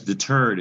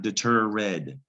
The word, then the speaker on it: deterred: It's not deter red. There's a rule about the ED ending that can make 3 different sounds. And this time you only hear the D part, deterred. The E is silent.